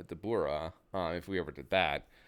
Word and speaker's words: Dabura: When it came to names, though, it could get a little bit tricky because, we were never going to say, like, Dabra for Dabura if we ever did that.